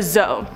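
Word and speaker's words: dzo: On to number 4, a zoe. This is spelled D-Z-O or D-Z-O.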